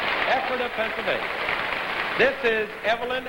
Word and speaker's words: Ephrata: This lady hails from Ephrata, Pennsylvania. Do I pronounce it correctly? Sure it is. Ephrata, Pennsylvania.